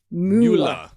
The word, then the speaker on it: Müller: Or is it pronounced Mueller? Like the Mueller report? I Well, if he was in German, it would in Germany it would be moola.